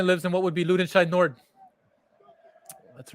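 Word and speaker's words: Lüdenscheid-Nord: that my family lives and what would be loot inside nord that's right you said it right correct you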